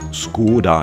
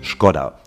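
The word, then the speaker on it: Škoda: repariert die erste Baustelle obwohl deutsche diese Automarke meist Skoda nennen ist die korrekte tschechische Aussprache skodda denn über dem Buchstaben S steht ein umgedrehtes Dach solche diakritischen Zeichen oben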